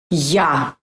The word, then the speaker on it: Я: And finally, ya. This letter sounds like ya in yummy, but in some cases it sounds like a in after or ask, but the main sound is ya, ya.